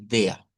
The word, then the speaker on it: der: Hemos dicho que esta frase, si queremos sonar, digamos, a a un alemán puro, debemos decir dea. El primer la primer cuestión. Si queremos quedarnos con una pronunciación, digamos, que suene parecido, podemos decir der, ve der.